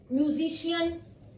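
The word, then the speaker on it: musician: म्यूजिशियन, facial, फिर हमने इसको श बोला, म्यूजिशियन, फेशियल, और है मजिशियन। मैं आपको स्पेलिंग्स भी बता देती हूँ, MAGICAIN, मजिशियन, म्यूजिशियन, FACIAL, facial.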